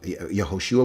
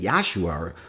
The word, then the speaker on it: Yehoshua: They'd say, yeah, that's his original name, and it would be pronounced Yehoshua. The shortened form of his name is Yeshua, not Yahshua.